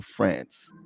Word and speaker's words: France: his name is uncle france like france like the um like the country france is pronounced like the country i'm going to see